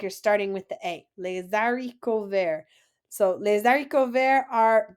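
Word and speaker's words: les haricots verts: long word lesari cover remember that H is silent so it's not hariko ver but AR Rico there like you're starting with the a lesarico there so Les dariko ver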